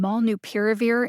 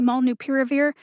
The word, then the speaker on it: molnupiravir: pronunciation vet your sources if you're saying mall new peer review in front of people who know how to say malnu piravir do yourself a favor and get it right having your authority questions